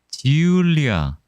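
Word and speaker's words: Giulia: 로메오 앤 지울리아. 아, 저게 이탈리아 발음으로는 G구나. 영어 발음은 J인데 Yes.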